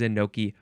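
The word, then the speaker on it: enoki: k it means mushroom which is why the synonym is in noi mushroom instead of in noii that makes sense what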